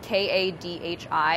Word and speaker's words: kadhi: me is that people, it's spelled K-A-D-H-I, and so a lot of people think that's like curry, and they think, oh, like an Indian curry. This is not that. This is Kadhi.